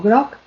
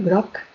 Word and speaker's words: groc: Esto lo vemos, por ejemplo, en palabras como groc, que quiere decir amarillo, groc, estoy pronunciando una C que sería una oclusiva sorda, pero en el momento